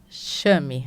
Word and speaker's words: Chame: É Chami? Chame. Chame. Chame.